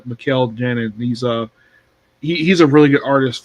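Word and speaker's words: Mikel Janín: Also, Michael Janine and Jarrett Chu on 1 by 25 and 1 by The 50. name is pronounced Mikkel Janin.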